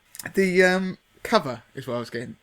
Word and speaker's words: Cuvva: from a firm called Cover. Now, when I saw the name, I was thinking, what does that actually say? Because it's spelt CUVVA. And obviously it's the kind of slang way of saying cover.